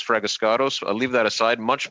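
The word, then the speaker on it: Fragiskatos: It's Fraguscato.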